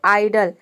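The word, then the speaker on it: idol: ठीक उसी तरह से है आइडल।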